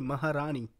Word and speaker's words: Maharani: tell you as an Indian they got the pronunciation super good Maharani it's basically Maharani so but they got it good in the